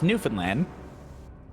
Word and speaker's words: Newfoundland: I'm sorry, it's pronounced Newfoundland? But it's spelled Newfoundland? No, it's Newfoundland, and they're Newfies.